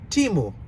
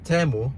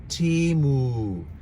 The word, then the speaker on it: Temu: nice I actually pronounce timu I used to say temu in Spanish is Tamil but actually the right pronunciation it is timu these ones are